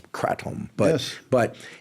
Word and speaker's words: kratom: I think the proper pronunciation is kratom.